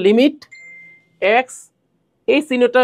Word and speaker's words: lim: এটা মানে লিম মানে লিম লেখব সংক্ষেপে কিন্তু উচ্চারণ করব লিমিট এক্স এই চিহ্নটা উচ্চারণ